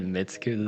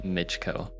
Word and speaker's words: Michko: I've been saying Mitsuku the entire time, and no, that's not correct. I'm pretty sure it's Michko. So yeah, they're playing.